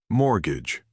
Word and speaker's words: mortgage: The money you pay back to the bank every month is called a mortgage. Mortgage. That is a very strange word. The T in the middle is silent.